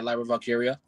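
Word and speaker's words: Lyra Valkyria: Yeah, Lyra Valkyia.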